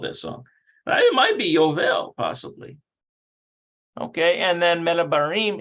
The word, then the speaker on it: יובל: Notice how they pronounce it Yovel. אמא ויובל הבן 3 מדברים. So it's almost like this. So it's like Jubilee. Remember that song, Jubilee, Jubilee, it's the Jubilee.